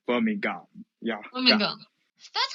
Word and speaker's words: Birmingham: Often we will ignore the pronounce of H.